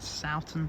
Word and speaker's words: Sowton: 15249 and 15216 welcome to Digby and sou station that's how you say it one of them stations